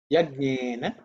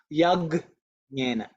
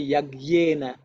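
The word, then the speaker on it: यज्ञेन: Yajnena Kalpantam. Okay. Yajnena Kalpantam. Yajnena Kalpantam. Yajnena Kalpantam. Okay. I think I'll point out about Yajnena, because sometimes many people pronounce it Yagnena.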